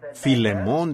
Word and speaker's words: Filemón: Así que, Filemón, dijo alguien allá atrás, lo cual creo que es la pronunciación correcta.